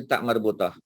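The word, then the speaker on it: ta marbutah: No, this is the right pronunciation. Tak marbutah. Tak marbutah. Ya, jadi tolong ingatlah. Tak marbutah sebutan dia.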